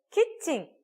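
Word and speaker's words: キッチン: 근데 키칭, 키 소금에다가 칭인데요. 치킨이랑 헷갈려져가지고 자꾸 치킨와 이래요.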